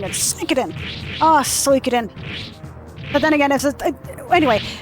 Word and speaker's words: Suikoden: I always pronounce it Suikoden, but then again, but I guess it's Suikoden. Suikoden? Suikoden? Suikoden? Suikoden? I guess it's Suikoden or Suikoden. I guess it'll be Suikoden, because typically speaking, the Japanese language will preface the first syllable first. So instead of being katana, it's katana. You know, katana instead of katana, which is usually an English thing.